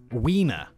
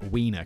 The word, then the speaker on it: Wiener: How do you say that in German? Because they pronounce it like a V, right? Wiener.